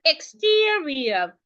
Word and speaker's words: exterior: And because the word has three syllables, remember the rule I told you, we are stressing the middle syllable. In fact, most ex word that have three syllables are stressed in this middle syllable.